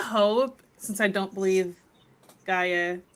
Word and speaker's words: Gaia: Okay, what I kind of hope, since I don't believe Gaia, how do you say her name? How do you say it? It's Gaia.